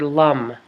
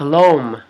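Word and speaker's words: l'homme: in french apostrophe h-o-m-m-e lam you say it like this lam and it looks like loam if you were gonna read it through an english speaking person's mind it looks like a loam loam but it's lum according to my friend who taught me how to say the poem and she said you say lam like yum which is the uh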